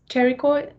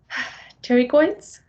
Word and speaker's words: pterygoid: then we have the carry coy sign my friend Terry coins the P is silent because yay for a Greek it's a Greek word there is a medial